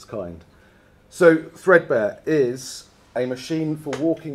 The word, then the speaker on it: 3DBARE: of all it's uh it's called threadbear um well that's how we pronounce it and I'm going to